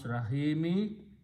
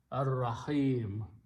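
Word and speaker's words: الرحيم: And when you stop, then you do not pronounce Rahimi, you pronounce a sukoon on the meme, Ar-Rahim.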